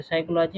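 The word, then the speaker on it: psychology: तो साइकोलॉजी में क्या है, पी साइलेंट है।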